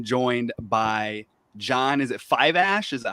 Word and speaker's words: Fiveash: Is it Fiveash? Is that how it's pronounced? Fiveash.